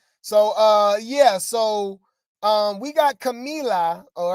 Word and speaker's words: Camila: Camilla. It's Camila. Camila. Yeah. Sorry, Camila.